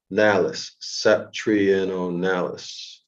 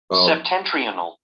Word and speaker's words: septentrional: Oh, so we need that other word, the septentrionalis, whatever that is.